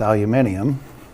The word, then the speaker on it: aluminium: making that cylinder weaker aluminum or correctly pronounced aluminium well us Yanks have messed that word up the fact is is